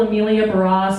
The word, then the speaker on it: Emilia Barrosse: always hurt you know my name is pretty simple sounds pretty simple amelia bros so i guess to